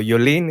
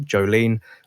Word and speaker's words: Jolien: what's going on there so yulin if i understand is the correct dutch way of pronouncing your name that your parents had given you but you also like jolene which is the english equivalent so guys if you're